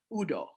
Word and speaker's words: Udoh: But I say Udoh. Well, I will always pronounce your name. Probably that Udoh is still wrong, but I want to say it right. Well, so say it right one more time. Udoh.